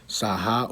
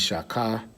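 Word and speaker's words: שָׁחָה: All right, we're looking at Saha or Shaka. All right, that's a transliteration. It's Saha. The pronunciation is Shaka.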